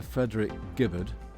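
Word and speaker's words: Frederick Gibberd: Architect Sir Frederick Gibbard, that's the correct pronunciation.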